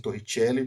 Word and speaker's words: Torricelli: como a equação Torricelli tá pronúncia É essa mesmo Torricelli porque é o nome é em italiano tá portanto a gente